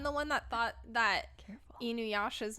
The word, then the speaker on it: Inuyasha: Yeah, that was your most frequent mispronunciation. Iyunasha. Yes. Don't fuck yourself up again. Yeah, it took us like weeks to get you to say Inuyasha properly.